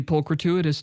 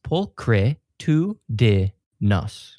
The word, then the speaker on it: pulchritudinous: Hey, baby, you're looking pretty pulchrituitous today. Tudinous. Pulchritudinous.